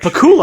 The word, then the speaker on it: Pakula: Pacula. Sure. Pacula. Anyway, Pacula. Pula. Alan J. Pacula. Pula. Pakula.